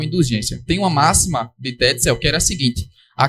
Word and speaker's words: Tetzel: Essa pronúncia também é do autor do livro no vídeo. Tetzel, amando da igreja, ele começa a vender o que se chama de indulgências.